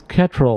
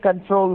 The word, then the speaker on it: Ctrl: It's a key that says Ketrel on it. CTRL, right? Yeah, it's spelled CTRL. It's control key.